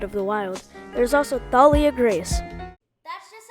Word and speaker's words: Thalia: There's also Thalia Grace.